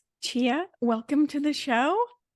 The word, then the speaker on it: Ch-a: So my name is Chia. That's the first thing is it's spelled ch- a. And so most people are like, "How do you say that girl's name?"